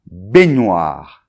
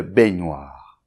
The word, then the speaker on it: baignoire: with "bouilloire", it's "la baignoire" (bathtub). Well then, so "une baignoire", it's there where you take your bath, okay? Good, so first syllable , with an open [ɛ]: [ɛ] .